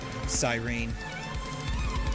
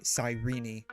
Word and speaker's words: Cyrene: Or as people that play HSR and have never played HI3 would know her as Cyrene. Or, excuse me, Cyrene. It's a weird way to pronounce that name.